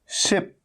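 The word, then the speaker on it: ship: लेकिन पॉइंट ये है कि अगर आप शिप को अगर आप सिप कह देंगे, सिप, तो सिप तो SIP सिप होता है, जिसका मतलब होता है हल्के हल्के चुस्की लेके पीना, है ना। तो अगर आपने सिप कह दिया, सिप, तो ये गलत हो जाएगा।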